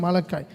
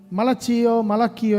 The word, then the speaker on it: மலக்காய்: அப்படி உங்களுக்கு உச்சரிப்பு தெரிலன்னா நாளாகமும், ஆபக்குக், ஜெஃபானியா, ஆகாய், ஜெக்கரியா, மலக்காய், மலக்கியோ இல்லை, மலக்காய், அது எல்லோரும் தவறு பண்ணுவாங்க, அது பொதுவானது.